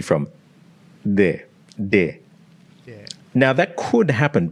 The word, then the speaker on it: de: De. Yeah. Now, that could happen, but in Spanish, your D is more like this, the TH in the word the in English.